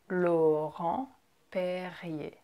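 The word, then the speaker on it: Laurent-Perrier: in this video right it's kind of tricky lo home PE and the last are again we don't pronounce it it just er can sometimes be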